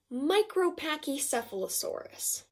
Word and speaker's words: Micropachycephalosaurus: is not easy meat micropachycephalosaurus let me say that again micropachycephalosaurus pronounced mike row pac e ceph ah low sore us phew this difficult dinosaur